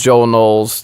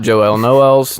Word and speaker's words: Joel Noel: Ben Sheffield that was Joel Noel's talking at the beginning not Joelle Noelle's don't get that confused it's the same spelling it's it's Hispanic no way to pronounce